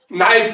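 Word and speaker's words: knife: देखो नाइफ लिखो लेकिन पहले के लिखो उसमें। क्यों मास्टर साहब? साइलेंट है। ये साइलेंट क्या भलाई होती है? ये ऐसी भलाई होती है इस भाषा में कि लिखो लेकिन बोलो मत।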